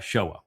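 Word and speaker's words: Sheol: And so they call it the Shiva system, which is spelled and written identically to Sheowl, which would be the proper pronunciation.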